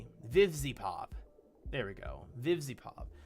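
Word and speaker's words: VivziePop: I kept saying Vivi Pop, and that's not her name. Vivzy Pop.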